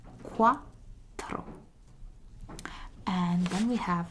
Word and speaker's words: quattro: And if you want to remember it, you may think of the sound that ducks make. So, quack, quack, quack, quack. And it's going to be quattro. So, very similar to the pronunciation of tre, but with an O. So it's quattro.